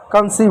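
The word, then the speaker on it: conceive: ठीक है, और इस सी का क्या, इस सी का हमने स लिखा, इस ई आई का हमने बड़ी की मात्रा लिखा, वी का वो लिखा, ई साइलेंट हो गया, कंसीव हुआ।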